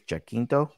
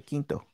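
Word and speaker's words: Jacinto: name i think it's jackkinto that was pretty good yes i think it's i it's j-a-c-i-n though i believe yeah yeah it's a quinto quinto yeah i'm gonna try to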